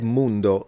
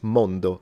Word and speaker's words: mondo: He said Mundo. That sounds more like Spanish. It's Mondo in Italian.